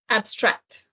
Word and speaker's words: abstract: vocabulary series that's right the stress is on the second syllable abstract it's an adjective it can